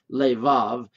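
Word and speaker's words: לבב: It wouldn't be a, it would be lay vave or vav, levav. And vav is an important symbol or a syllable in the Hebrew language.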